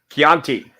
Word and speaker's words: Chianti: I understand women yeah pronounced a hard C Chianti chiate okay there we